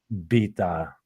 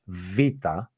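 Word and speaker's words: βήτα: second line is not exactly correct because because first off, the Veta, it's been written as beta, and this is not right. It is Vita, V. Vita. Yes, Vita.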